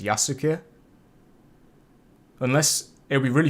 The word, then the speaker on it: Yasuke: oh wait wait wait so the actual way to say his name is yasuke unless it would be